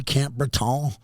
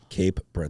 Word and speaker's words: Cape Breton: Camp Breton? Cape Breton.